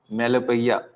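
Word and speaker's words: melopoeia: अब आते हैं हम मेलोपैया, जो कि कल एक दूसरा टर्म और था मेलोपैया। इसकी स्पेलिंग है ओनोमेटोपैया जैसा लग रहा है कि नहीं, पैया, इसको पैया बोलेंगे, पोया नहीं बोलेंगे, ठीक है।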